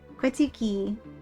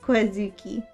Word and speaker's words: Quitsuki: Quitsuki. It rhymes with Suki, so I'll remember. You're cute. You're cute. Unknown is cute. Unknown is cute. Not Quazuki. Well, the last the the Uki is is the part that rhymes.